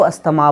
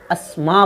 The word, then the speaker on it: asthma: school में पढ़ते थे जिसको अस्थमा बोलते थे और आज कल इसको लोग अस्थमा बोलते हैं अगर आप इसको बोलते हैं हम नहीं बोले मगर इसको अस्मा बोलें मार्च 2016 साइलेंट है